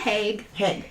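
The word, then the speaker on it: Haigh: was like you know i'm just going to go with haig i was going to say i could say i could see the say let's see the hay because the gh like through like with the gh yes yes exactly silent but yeah yeah so i'm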